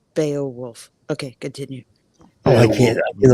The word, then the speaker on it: Beowulf: Brian, I'm pretty sure it is pronounced Beowulf.